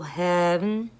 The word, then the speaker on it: heaven: one point you have to say heaven for one syllable heaven and then there's the